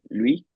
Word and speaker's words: lui: Lui, because you have to push it out, remember, with those lips with the U sound?